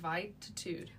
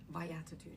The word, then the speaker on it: Viatitude: Vatitude viatitude. Viatitude. Viatitude. Exactly. I got it. Via and attitude. Viitude. So life attitude.